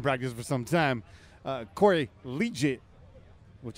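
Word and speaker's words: Liuget: Corey Legit, which I've been saying his name wrong, Okay. but it's too legit to quit.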